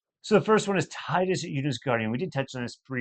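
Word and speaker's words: Tidus: I know it's pronounced Titus. I'm well aware it's Titus, and I will die on this hill. But I know it was intended as Titus.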